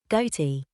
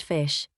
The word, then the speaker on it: ghoti: each grouping of letters GH as in cough o as in women t as in election as you can tell